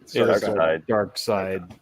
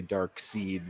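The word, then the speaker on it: Darkseid: he has the Omega beams okay how's it pronounced comic people is that dark side or dark dark side dark side I have I have heard people say dark seed which I saw dark I said dark seed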